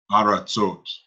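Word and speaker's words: ארצות: To ile ha aretz ot aretzot Aratzot. aratzot. This is another one where the vowel changes. So you got Aretz, but it comes Aratzot. So it's So it's not a ra, it's a ra.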